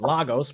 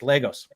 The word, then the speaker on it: Lagos: on the proper pronunciation I was calling it Lagos because I'm from the West Coast United States and I don't know anything and she told me no it's Legos all right all right